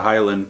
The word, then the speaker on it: Hielan': The Hielan being a nod to how the localers don't bother to pronounce the D in Highland, they just say the Hielan.